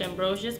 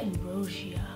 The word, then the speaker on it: Ambrosius: For the longest time she was letting people say Marsha Ambrosius, but now it's like Marsha Ambrosia or some shit like that. Anyway, love her to death.